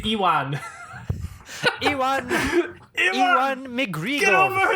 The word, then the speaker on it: Ewan: I don't say Ewan. I don't say I say onion. I say Ewan.